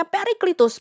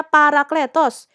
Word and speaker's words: Parakletos: Kemudian di kitab Yohanes itu dibacanya Periklitus, padahal udah jelas naskah aslinya Parakletos.